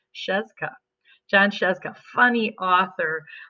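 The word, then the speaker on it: Scieszka: written by John and I had to look up how to say his last name because that's a lot of consonants his best it was pronounced Cheska Josh asked a funny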